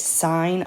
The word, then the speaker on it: sine: have the sine function we would say sine like this don't say sin or s-i-n we still pronounce it the same we still say sine and if we're saying